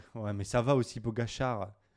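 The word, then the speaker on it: Pogačar: Parce qu'en fait, c'est Pogacar. un. Pogacar. En fait, il est slovène et en fait, Hein. il s'écrit Ah, Slovène. Pogacar, en plus. Pogacar, sauf que sur le C, il y a un petit chapeau, mais à l'envers, tu vois.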